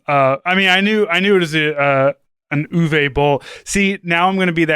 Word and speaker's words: Uwe: Okay, so everyone thinks it's you, but it's Uwe is how you actually say his name.